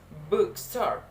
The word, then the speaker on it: bookstore: The next, that is bookstore. The stress placement, that is in the first two. The syllable sound, that is bookstore. A bookstore. You can hear me, book in the first.